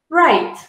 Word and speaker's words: write: have a silent w w is silent at the beginning of a word that is followed by an R these includes words such as write write learning to write